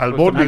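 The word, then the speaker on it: albóndiga: It was I think a Bondiga soup. That's Albondiga, bro. Albondiga. Did I say it right? Yeah, Yeah. you said it right.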